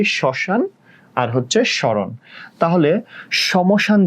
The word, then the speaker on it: শ্মশান: যেমন ধরো, সমশান বলি না, সমরণ বলি না, আমরা বলি শ্মশান আর হচ্ছে শরণ।